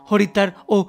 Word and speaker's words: হরিদ্বার: দৃশ্য পরিদর্শনের পাশাপাশি চলুন হরিদ্বার ও হারকি পৌরী সম্পর্কে কিছু ভৌগোলিক ও কিছু পৌরাণিক তথ্য আপনাদেরকে দিয়ে ফেলি। হরিদ্বার স্থানীয় উচ্চারণ যাকে হরদ্বারও বলা হয়।